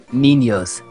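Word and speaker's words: niños: an N yeah uh it is pronounced as like if you had an n and a y so think it was n i n y o s and say it now okay ninos yeah except if you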